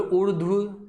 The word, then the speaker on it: उर्दू: बोलो उर्दू, उधर्व नहीं है ये, कई बच्चे इसको उधर्व पढ़ते हैं, क्या है, उर्दू।